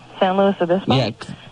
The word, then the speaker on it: San Luis Obispo: go right now to Dana who's calling from San Luis Obispo Dana did I say it right what San Luis Obispo yeah what's up well he's a cranky huh